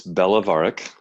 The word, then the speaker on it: Belovarac: It's Belovarac.